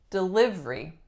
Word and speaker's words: delivery: Next one, we have delivery. Delivery. This one, a lot of my clients say delivery, delivery. But we get rid of that third syllable and we get delivery, delivery. A delivery truck just pulled up to my house.